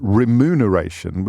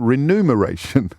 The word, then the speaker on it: remuneration: And yes, I was well into my 40s before I realised that it was remuneration, the M before the N, rather than remuneration with the N before the M, because you're talking about numbers.